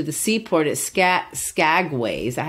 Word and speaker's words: Skagway: San Francisco to the sea port at SCA Skagway is that how you pronounce it Skagway MH well once you get to Skagway you